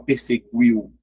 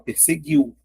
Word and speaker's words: perseguiu: Mas se você fizer aqui a separação, ó, e fizer a pronúncia, você não fala perseguiu, você fala perseguiu. Ou seja, aqui, ó, é apenas um dígrafo.